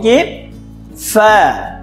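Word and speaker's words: قاف: ঠিক আছে বন্ধুরা, কফের উচ্চারণটি একটু মোটা হবে আর কাফের উচ্চারণটি পাতলা হবে।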